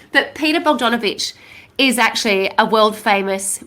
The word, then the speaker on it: Bogdanovich: think about it i'll say incorrectly for donna vogdavich um i need to say it lots of times so i say it correctly but peter bogdanovich is actually a world famous movie director and